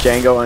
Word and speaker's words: Django: have you seen um Django Unchained I have I loved it you know what I loved about that the D is silent no uh you take